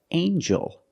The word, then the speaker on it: angel: right angle and then we have with eel angel in this word the G makes a JJ